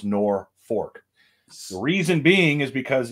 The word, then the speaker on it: Norfolk: is how it's spelled it's pronounced nor fork the reason being is